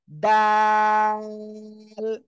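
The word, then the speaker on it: دال: লাগান সবাই গোড়ায় লাগান এই যে জিহ্বার আগায় এই দুই দাঁতের গোড়ায় দাল সবাই একসাথে জোরে জোরে উচ্চারণ করেন দাল দাল আহ দেখেন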